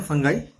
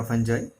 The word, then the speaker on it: fungi: Kingdom फंगाई, फंगी या फंजाई दोनों तरह प्रोनाउंसिएट करते हैं.